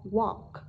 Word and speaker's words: walk: phát âm là A, chỉ có đáp án A phát âm là O, walk. Đây là âm O dài các bạn nhé, các bạn sẽ thêm hai chấm đằng sau.